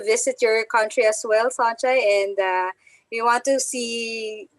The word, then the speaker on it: Sonja: My first name is Sonja. So I pronounce the O like a long O, so Sonja.